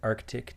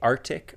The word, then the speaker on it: Arctic: for an Arctic deer would you say Arctic or Arctic Arc Arctic okay so we yeah I don't know what I say I think do Americans say Arctic and and then British say Arctic in the Arctic AR I think the sea is just so soft in in American that you don't really hear it but I think it's there oh okay so go